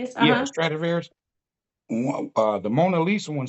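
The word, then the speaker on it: Stradivarius: I read about the Stratavarius. Is that how you say it? The Stratavarius. Yeah. Stratavarious.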